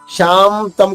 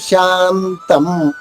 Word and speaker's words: శాంతం: శాంతం, ఇక్కడ శాంతం, షాద తర్వాత ఉన్న సున్నా నాలా పలకాలి, మాలా కాదు. శాంతం కాదు, శాంతం.